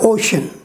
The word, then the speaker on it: ocean: the last line here you will see that ocean o c e a an ocean that's sha sound no i a and no i o is there but still it is pronounced sha ocean so this is an